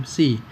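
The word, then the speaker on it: ψ: Ini secara bacanya psi.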